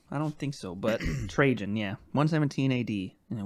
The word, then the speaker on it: Trajan: Trajan. That's spelled how? Trajan. I almost said Trojan, but nope.